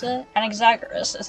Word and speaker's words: Anaxagoras: Come, let us go and teach those pathetic words one That's not how you final pronounce lesson. it. Anaxagoras is how you pronounce it.